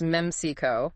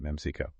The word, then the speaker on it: Memcyco: Now, our sources mentioned Meico. That's pronounced MECO, right? That's right. Meico.